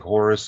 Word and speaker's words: Horus: In the authentic Egyptian pronunciation, it's just Isa, just like Horus is Hor.